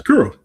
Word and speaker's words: Kuro: No, you said it right. It's Curo.